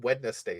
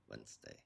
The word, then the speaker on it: Wednesday: It's It's like saying wetness day instead of wed.